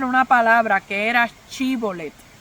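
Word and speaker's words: Shibolet: Los de la tribu de Efraín no podían pronunciarla bien. No podían pronunciar bien la S y la H, ¿verdad? La C y la H. Eh, al parecer tenían algún tipo de frenillo o algo así.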